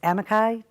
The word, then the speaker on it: amici: But I wasn't, it's pronounced amici, to a Okay.